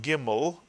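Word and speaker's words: גימל: favorite letters, the galloping Gimel, if we put a dagesh into the Gimel, it's still pronounced as the hard G in English, the G sound, with or without the dagesh.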